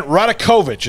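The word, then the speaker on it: Radakovich: way before we get to that uh dan radekovich is how you say his name dan radokovich uh is um about to be officially on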